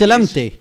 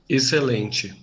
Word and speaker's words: Excelente: For example, this word, meaning excellent, in European Portuguese Excelente. Excelente. Excellent. and in Brazilian Portuguese. Excelente.